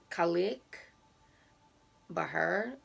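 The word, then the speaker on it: Cailleach Bheur: that in scotland um she is known as um colleek bahr b-h-e-u-r like i said while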